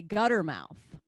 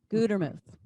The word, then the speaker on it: Gutermuth: pronounce a simple word one t makes a long u gutermuth i uh i looked